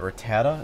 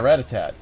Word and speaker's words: Rattata: Yeah, Ratatat. And Yeah. then you said his name once. I'm like, oh, you're right. Like that's actually Yeah, it's how you Rattata.